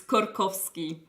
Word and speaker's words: Skorkowsky: Yeah, we have discussed that, and we know that you say something like Skorkowsky, and for us it's Skorkowsky. Yeah. Oh, Skorkowsky?